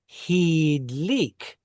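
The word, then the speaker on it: הִדְלִיק: In the qatal, hif'il has an e sound. You would say hidlik. He lit, you know, a candle or something, right? Hidlik.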